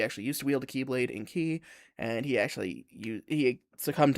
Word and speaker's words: Keyblade: The Kai Blade, if you will. He said Key or Kai, depends on how you want to pronounce it. It's Keyblade, because it's the true Keyblade.